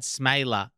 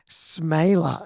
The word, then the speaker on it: Smeele: Yeah, it's just a weird Dutch pronunciation that I think we've always just been kind of trying to make sure people pronounce it correctly. And I think it's just, going back to my grandparents, I remember them kind of teaching us how to pronounce it properly.